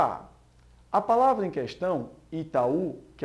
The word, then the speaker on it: Itaú: verdadeiro pessoal olha só a palavra Itaú não se pronuncia e tal se fosse tal esse um seria uma semivogal que estaria aí acompanhando um e nós temos um ditongo mas como a pronúncia Itaú isso justifica o fato